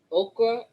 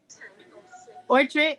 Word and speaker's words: ochre: Ochre, what? Orchard, is that how you say it, Michelle? Oh, ochre.